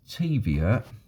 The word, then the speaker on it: Taviot: Apparently Taviot, those of you that are Scottish would know that Taviot would be pronounced as Teviot, and Zetland Street is Shetland Street.